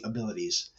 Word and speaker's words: AbilitEase: So kind of fast forward to 2013, that's when I created my company AbilitEase. And it sounds just like the word abilities, but it's spelled with EASE on the end, which is meant to be ease of ability.